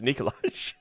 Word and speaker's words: Nikolaj: Malang uh who played nikolaj and I'm going to I'm going to put in the uh Brooklyn 99 clip here ncash it's pronounced Nikolas and Lars ran as